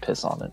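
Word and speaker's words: Pisquontuit: So it's where Fred Rosewater is supposed to be from, and it's spelled piss gone to it, but they pronounce it piss on it, so That's fucked up.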